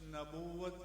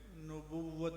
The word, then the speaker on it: نبوت: کے بعد تاجدار ختم نبوت کا جو نعرہ لگانے والے ہیں، تو نون پر زبر نہیں ہوتی، نون پر پیش ہوتی ہے۔ یہ لفظ نبوت نہیں ہے، نبوت ہے۔ اس لیے جب آپ